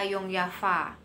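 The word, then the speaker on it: Jong Java: Nah, sebelum beliau berangkat ke Bandung, beliau itu rapat dulu sama anggota Yongyafa. Tulisannya Jongjava, itu bacanya Yongyafa ya, karena orang Belanda itu baca J itu Y gitu.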